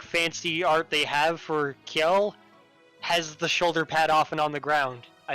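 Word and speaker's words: Kjelle: I like Kiel a lot because you don't hear her name said, and it's spelt with like the Nordic J.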